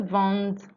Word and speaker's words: vendent: Nous vendons, vous vendez, ils vendent, elles vendent. Ils vendent, elles vendent. So you notice the difference in pronunciation.